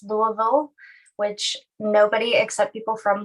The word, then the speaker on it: Louisville: excited to be here today um it is pronounced louisville which nobody except people from louisville pronounce it